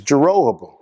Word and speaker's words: Jeroboam: the sin of jeroboam yeah now i finally pronounced his name right is jeroboam throughout the history of israel he made two